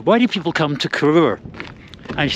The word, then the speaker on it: Corrour: have established one thing this place is called Kur not kurur I think kurur is more of a glasg kind of uh pronunciation it's Kur according to the locals right let's get checked